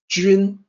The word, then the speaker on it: 君: When you look at that, you might say Jun, like the month, or Jun, based on the way that it's spelled, but it's actually Jun. It's a little tricky to sound out for a native English speaker. Jun.